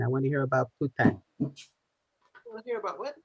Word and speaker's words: poutine: I want to hear about poutine."